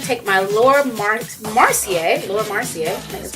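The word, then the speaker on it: Laura Mercier: I'm going to take my lur Mar marcier lur marcier that's how you say it and I'm going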